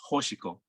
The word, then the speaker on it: Hoshiko: But by the way, her name is Hoshiko. Hoshiko, okay, Hoshiko. Yeah. Right. Yeah, and I know it's difficult to say a name, beginning with a sound, but yeah, Hoshiko, Star Child.